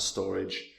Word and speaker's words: Storj: in 2021 now storage it's pronounced a storage but I'm never going to say that storage um is an